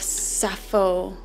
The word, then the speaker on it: Sappho: We have Sappho. I believe that's how you pronounce it, the poetess.